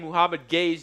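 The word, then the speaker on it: Mohamed Gueye: Nobody, if you start getting weird in the chat because we're saying Muhammad Gay's name, which it is pronounced that way, I don't want to hear it.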